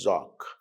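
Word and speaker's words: Jacques: correctly so it's John Jake Russo no it's Zach Zach is actually French so they pronounce it in a very different manner okay so okay so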